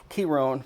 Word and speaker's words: Chiron: Chiron, proper pronunciation.